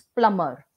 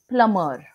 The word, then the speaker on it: plumber: sound you are not supposed to make it's plumber such words are called silent words like a